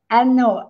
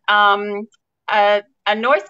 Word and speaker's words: Anois: And as I was having a look, Anois came up and it said, "How do you pronounce Anois?" And I thought, "Oh, what's this?" And I clicked on it, and it says it's Anish.